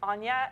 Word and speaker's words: Ganna: You said my name is Anya, and it is, but it's spelled with a G, and that is because it's gangster.